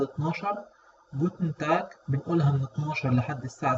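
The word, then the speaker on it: Guten Tag: ونلاحظ إن ال AN اللي في الآخر ما بننطقهاش، يعني ما بنطلعهاش، بقنا بيبقى مقفول فيها. جوتن تاك زي ما تقول كده بتطلع من مناخيرك، وتاك الجي الأخيرة هنا بتتنطق كي خفيفة.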